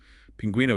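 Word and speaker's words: pingüino: Pinguino is stressed on the gu syllable, but it still needs the diaeresis to show the U isn't silent.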